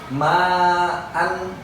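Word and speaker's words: معا: Maka cara membacanya adalah ma'a. Sekali lagi, ma'a, ya. Bukan ma berhenti, tetapi khusus untuk kalimat an, hamzah yang berfathahtain, maka dibaca ma'a, dibaca 2 harokat, ya.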